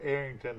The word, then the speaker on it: Arrington: are getting to know Arrington High School. And am I pronouncing it right? There's no G in there, Mr. Mike. It's Arrington. Yes, sir, there's no G. Arrington, not Arrington, but Arrington. Yes, sir.